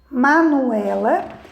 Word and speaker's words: Manuela: Então, verifica que o E é a sílaba mais forte, né, da palavra, né?